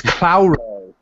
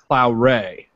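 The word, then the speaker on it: Claure: It's Clauray. What? Cloudray? Clauray. Clauray. Sorry, I put the emphasis on the wrong syllable. It's Clauray.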